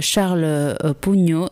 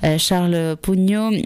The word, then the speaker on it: Sharl Pougnaud: Donc Charles Pugno, ça s'écrit donc SHARL POUGNA UD.